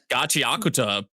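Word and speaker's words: Gachiakuta: How do you pronounce it? Gachakuta.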